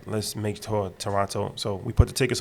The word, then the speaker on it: Toronto: I mean, since you guys are in my city, we don't pronounce the second T. Okay. Toronto. There you go. Toronto. There you go. Not Toronto. Yeah. That shows you're not from me. Take the T off, y'all.